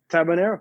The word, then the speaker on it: Tabanero: last week is it is it tabanero yeah tabanero how about that a